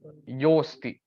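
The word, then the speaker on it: योऽस्ति: you have to uh you have to pronounce it as yoasti okay because most of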